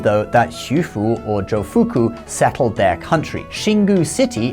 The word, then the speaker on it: Jofuku: So according to Japanese legend, Jofuku, which is how you pronounce Xu Fu in Japanese, came to Japan and taught people farming techniques and settled the area.